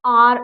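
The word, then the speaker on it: hour: ही मेट मी ड आर अगो ठीक है एक घंटे पहले मुझे मिला आर अगेन एच इ साइलेंट तो आर तो आ की आवाज आ रही है तो एन आर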